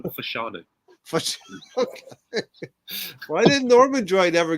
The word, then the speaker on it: Fashanu: Ormond- It doesn't say John Fashion, it says John Fashanu.